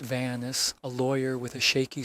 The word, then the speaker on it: Vance: Beatrice Carver's stalker, a tall man in a dark coat, and a business card from Cyrus Vance, pronounced Vanis, a lawyer with a shaky story, had turned our closed case into a live wire.